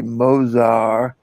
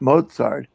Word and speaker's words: Mozart: She taught me to say Mozart, not Mozart, as we pronounce it correctly, I might add, with 17 pieces of luggage and an extra taxi.